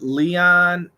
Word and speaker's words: Leon: is the difference between leon and lion you mean the pronunciation leon lyon leon lyon long e long eye really never bulabase i've